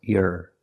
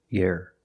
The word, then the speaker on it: year: for free that's right it's not correct to say year year year it's year with a long e sound like green beans year one year two years link the sound from the e to the r year here it sounds like ear and hear and beer year one